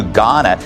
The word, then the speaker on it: Ghana: LA Mayor Karen Bass is demanding an investigation into her trip to Ghana. The age is silent.